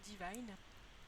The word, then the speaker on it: Divine: Et du coup, déjà son nom, donc elle s'appelle Divine. Donc du coup, ça veut dire divine, mais je le prononce à l'anglaise parce que je trouve que ça fait plus joli.